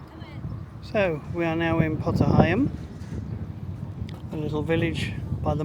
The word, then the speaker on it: Potter Heigham: Potter Heigham is the right pronunciation. So, we've walked into Wroxham a couple of times for shops. But, uh today we're going to a little bit further. Potter Heigham is only a 6-minute journey, so we'll let